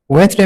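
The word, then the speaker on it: Wednesday: Align में जी silent है। वेस्टडे वेडनेसडे में आपके पास डी साइलेंट है।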